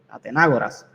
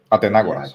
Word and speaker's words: Atenágoras: Estoy leyéndolo en inglés porque entiendo que en español tiene acento en la A. So, Atenágoras. Se supone que se diga en español. Así que Atenágoras.